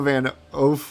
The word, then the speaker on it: Van Hoof: My last name isn't that French. An American Van Hoof. I don't know how to pronounce the actual typing of it. Van Oof would oof would be the pronunciation.